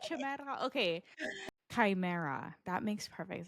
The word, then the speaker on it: chimera: And the way that it's described through the lore is that it's almost like a chimera, and a chimera back in Greek mythology was